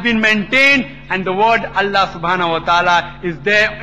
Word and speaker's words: Allah: God Almighty as Allah they write it as IA but when to pronounce it we have to tell them pronounce it as Allah hope the answer the